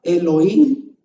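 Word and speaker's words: אלהים: En esas 7 palabras dice Bereshit, Bara, Elohim, Et, que es la palabra que no traduce, et ha-chamayim beet ha-aretz. Así se pronuncia eso en hebreo. Pero se fija usted que la puna, berechit, bara Elohim, son palabra 1, 2, 3.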